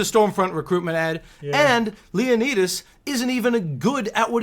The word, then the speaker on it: Leonidas: The disabled man comes to Leonidas, because that's how you say it. I refuse to say Leonidas.